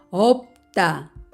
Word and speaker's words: 없다: 안자요 이렇게 발음이 됩니다 겹받침 비읍 시 옷을 보겠습니다 없다 이것도 역시 앞에 있는 비읍 발음이 되고 뒤에 있는 시 옷은 디귿 만나서 따라는 소리가 됩니다 없다 없다 몸을 만나면 어떻게